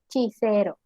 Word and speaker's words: Cicero: Aquí, a diferencia de la pronunciación anterior, vemos que como utilizamos una I en cicero, se cambia la pronunciación a CH, chicero.